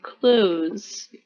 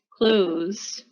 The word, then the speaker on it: clothes: cloth okay and then here we don't pronounce it we say clothes clothes right for what we're